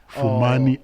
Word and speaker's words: Fumani: Fumani. It's Fumani. Yes. Okay, not Vumani. Not Vumani. Yes. Vumani. Because I was pronouncing your name from the Zulu context.